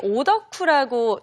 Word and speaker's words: 오덕후: 혹시 오덕후라고 들어보셨는지요? 이 특정 분야에 열중하는 사람을 가리키는 일본어 오타쿠를 한국식으로 발음한 건데 네.